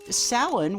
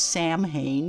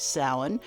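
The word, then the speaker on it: Samhain: going into something dangerous Salon which by the way is spelled s m ha a i n it looks like it should be pronounced Sam ha but it's not it is Salon was a day that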